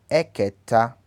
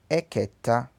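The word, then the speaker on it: ẹ̀kẹta: Então, primeiro pronuncia-se Equinin. Equinin. Primeiro. Segundo, Ekedi. Ekedi. Terceiro, Eketa. Eketa.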